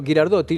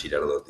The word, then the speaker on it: Ghirardotti: Hola Pepe, sí, bien pronunciado, así como Dante Alighieri no se pronuncia Alighieri, Ghirardotti no es Girardotti, así que está Perfecto.